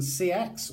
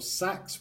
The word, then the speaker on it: seax: Basically, it's a Wheeler Type 2 Anglo-Saxon Seax or Sax, whatever you want to call it, however you want to pronounce it, which is basically a Seax or Sax is an old English word for a knife.